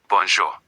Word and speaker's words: bonjour: Bonjour. Bonzo. Remember that J is joy and the on is nasal. The sound goes through your nose. Bonzo. Now, bonjour walks from morning until about 6:00 p.m.